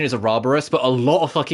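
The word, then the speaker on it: ouroboros: think they say a robber us the correct pronunciation is a roborous but a lot of things say uroboros and it annoys the out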